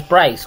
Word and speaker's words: Bryce: His name is Bryce, which rhymes with rice.